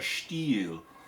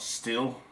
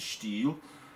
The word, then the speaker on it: Stihl: It's a steel. That's the proper pronunciation. It's not steel. It's a steel.